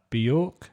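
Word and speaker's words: Björk: So there's films with that David Bowie starred in, Tupac Shakur, Bjork, is that how you say her name?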